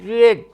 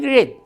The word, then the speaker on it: read: The past participle of read is read. Or the same letters but the different pronunciation. The story is being read.